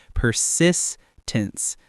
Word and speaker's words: persistence: Persistence, stress on the second syllable.